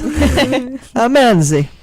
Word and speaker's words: manzi: And an I, pronounced E, is what you do when you describe something, but it's actually a smaller version of it.